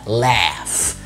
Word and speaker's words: laugh: واحد يقول لي laugh دي جي اتش بس بتتنطق اف، فبنقولها laugh.